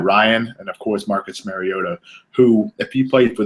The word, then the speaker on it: Mariota: There's a goat somewhere in the middle of Marcus his name. Mariota. Yes, that's correct.